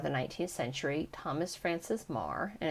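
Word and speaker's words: Meagher: 19th century Thomas Francis Mah and it's spelled me e a g h e r the author kindly um and helpfully provided that is pronounced Mar who lived on three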